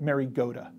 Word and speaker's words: Mariota: You pronounced his name wrong, by the way. I'm sorry, how is it? Mariota.